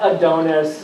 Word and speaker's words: Adonis: I've ever dealt with but it's not pronounced the way he did I know but his name is Lord Adonis and it turns out he says it Adonis and he's sort of